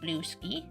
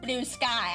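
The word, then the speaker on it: Bluesky: Blue ski. I know it's pronounced blue sky.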